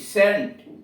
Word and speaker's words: scent: सी साइलेंट है, SCENT सेंट इत्र, SCIENC साइंस विज्ञान, सीन SCENE सीन दृश्य।